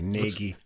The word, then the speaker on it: Nagy: I think it's pronounced Naj. Looks like Nagy, but it looks like Nagy. But I heard somebody said Naj, so I'm going with that. Takács, I remember from the